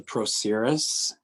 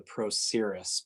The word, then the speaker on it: procerus: top of the nose and it's called the procerus and it covers up the nasal bone so